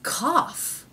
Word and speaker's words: cough: how cow is spelled This Is How cow is spelled so this even though it was bow isn't cow it's cough cough so we have the a vowel and somehow an F consonant has crept in cough okay cough what would